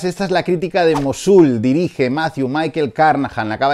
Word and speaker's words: Mosul: dado cuenta de que no sabía pronunciar mosúl la estaba haciendo la crítica llamándola mosúl hasta que chequeado donde donde chequeamos todo tomamos a google que es nuestro dios no nuestro dios y nuestro demonio y el mirado y es mosúl así que hola que